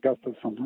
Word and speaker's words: Gustafsson: How do you pronounce it? No, like you said, Gustafsson.